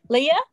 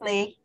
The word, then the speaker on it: Leah: Leah, did I pronounce that right, Leah? Just Lee. Lee. Like T. Like the C.